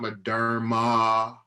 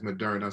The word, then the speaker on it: Moderna: I know one of my administrators hit me up, Eljon, it's not Moderna. Okay, it's Moderna. So please forgive me for not pronouncing it.